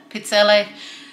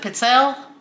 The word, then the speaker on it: pizzelle: to use them i'm making homemade pizzelle i pronounce it pizzelle some people pronounce it pizzelle whichever you pronounce it it's delicious these are